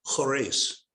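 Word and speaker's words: Khurais: well this little place k-h-u-r-a-i-s pronounced horace there's an oil field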